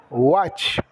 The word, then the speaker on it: watch: nós we assistiremos will watch o verbo assistir é Watch o W tem o som de u o A de o